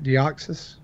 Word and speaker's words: Deoxys: yeah did I know Jessie did not pronounce that right deoxys that is correct all right see I'm